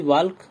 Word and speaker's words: walk: Please वॉक ऑन the right, please वॉक या फिर please वॉक ऑन the right, यहाँ पे एल साइलेंट रहता है आपका।